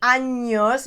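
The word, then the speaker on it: años: if you don't say anos if you don't pronounce the n yeah right like anyos you're going to be saying something completely different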